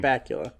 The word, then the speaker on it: Bakula: Bakula.